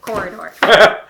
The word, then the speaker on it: Quoridor: We are looking at corridor. Corridor with a Q. With a Q. It's It's not It's a corridor. It's spelled with a Q, but it doesn't say corridor with a Q. It's It's corridor.